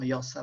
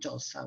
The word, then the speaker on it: Jossa: thank you also for pronouncing correctly my name and surname yosa rather than jose which has become my official name in the uk now and